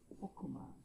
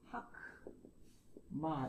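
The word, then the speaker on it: חכמה: 강세가 없는 폐음절일 때는 오로 발음한다. 강세가 없는 폐음절, 강세가 없는 폐음절. 자, 단어가 쓰였어요. 제일 많이 쓰이는 게 호크마입니다. 호크마. 사칸이라고 얘기하죠. 호크마는 쓰기를 딱 봤을 때 하크마 이렇게 읽습니다.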